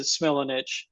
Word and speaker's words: Smilanich: We pronounce it Smilanich.